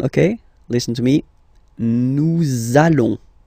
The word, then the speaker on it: nous allons: between the words, so it does mean that you will have to pronounce this z sound, okay? Listen to me. Nous allons. Nous allons.